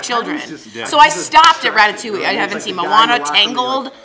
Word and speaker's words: Ratatouille: was telling Al that someone thought it was ratatwa instead of Ratatouille so it's a party there like it's actually pronounced Ratatouille was like the first movie that I was